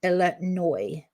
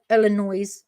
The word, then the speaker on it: Illinois: Shauna is in Illinois. Do I say Illinois or Illinois? I think I don't say the S. I think that S is silent.